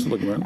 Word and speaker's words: Ursula Le Guin: I have read all the basics, the classics from, Ursula Le Guin, is that how you pronounce the name? Yes, Ursula Le Guin.